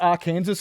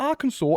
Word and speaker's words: Arkansas: So is it R Kansas and and corn saw? No, I'm not going to corn saw and R Kansas. I'm going to Arkansas and can What the